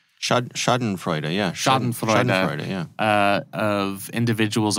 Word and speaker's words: Schadenfreude: are so many, how do you say it, Schadenfreude? Schadenfreude, yeah.